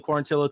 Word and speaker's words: Quarantillo: December 14th UFC on ESPN our guy Billy quarantillo takes on Cub Swanson and I think our